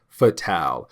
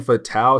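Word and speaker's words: Fatale: known as fatal now the reason why I'm saying fatal is because she is French I want to say and she is a European assassin in French they say it like that now I could be wrong could be fatal but I think it's fatal because of French either way though she's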